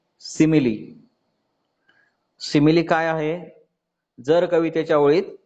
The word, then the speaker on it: simile: उच्चार लक्षात ठेवा, सिमिली, स्माइल नाही, ते वाटतं तसं परंतु स्पेलिंग वेगळं आहे.